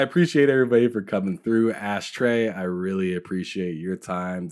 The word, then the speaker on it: Ashtrey: um YouTube And Hive all ashtray gaming and it's t-r-e-y I like to keep everything the same and the the fact that it's spelled with the knees a little bit different which is good so it's ashtray gaming and you you'll know